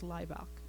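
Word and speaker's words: Hlibok: And Greg very articulately said, the H is silent, it's Leibach.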